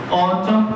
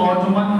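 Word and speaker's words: autumn: Summer, winter, ऑटम। इसको बहुत लोग ऑटमन पढ़ देते हैं, एंड साइलेंट होता है, ठीक है।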